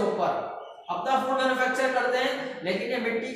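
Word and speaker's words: Heliconia: Okay, example हेलिकॉनिया। Okay, थोड़ी सी spelling mistake, इसको सही कर दिया जाए, हेलिकॉनियो नहीं है, ये हेलिकॉनिया होता है।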